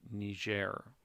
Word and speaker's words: Niger: the niger river so when you see this word it is a soft g niger river that's how we're going to pronounce that now one thing that